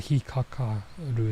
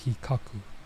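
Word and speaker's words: 引っ掻く: It's not hikakaru, it's hikaku.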